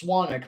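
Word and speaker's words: Swanwick: not but anyway um s-w-a-n-w-i-c-k it looks like swan wick it's pronounced swanic but it's spelled swan wick s-w-a-n-w-i-c-k yeah and i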